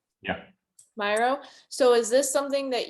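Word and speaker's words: Miro: us right here how do you say it myro yeah myro so is this something that you recommend us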